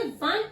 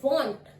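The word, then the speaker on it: want: जैसा कि हम अगर पढ़े तो वांट, बट हम इसे वांट नहीं बोलते, इसका जो प्रोनाउंसिएशन होता है वो होता है वॉन्ट।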